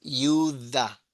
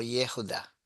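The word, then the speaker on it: יהודה: La transliteración alemana, que en alemán esa J se lee I, pero en inglés también, pero en castellano se lee J, pero en realidad el verdadero es Yuda, Yudá. Yuda o Yehuda, si lees la G.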